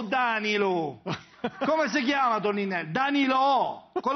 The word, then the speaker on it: Danilo: Danilo! Con l'accento sulla O.